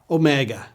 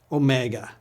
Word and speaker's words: Omega: similar to our W but it's a vowel it's the large version the mega version of Omicron it always has had the same sound as Omicron but originally it was pronounced for a longer duration say it with me